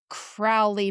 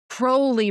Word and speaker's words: Crowley: And she's like, "Crowley my rhymes with fowley. Crowley rhymes with holy."